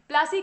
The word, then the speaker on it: पलासी: उस स्थान का नाम पलासी था। और वही जो पलासी था उसको बाद में अंग्रेज प्लासी प्लासी बोलने लगते हैं, उनका जो उच्चारण था वो थोड़ा अलग था।